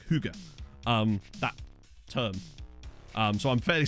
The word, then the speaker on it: hygge: a word in Danish, the Y's were pronounced like U's. Like hygge.